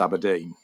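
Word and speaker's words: abrdn: um which when they launched they had to spell out it's pronounced abodine which starts to give you a bit of a sense this might be a problem for them.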